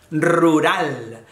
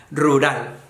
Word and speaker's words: rural: en un lugar rural esta es difícil pronunciar la de fijos porque la doble r la r vibra mucho en español y luego la r - vibrante pero es rural rural bueno pues rural es